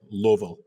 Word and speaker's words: Louisville: if you Well, you know, gotta say it right. You gotta say Louisville.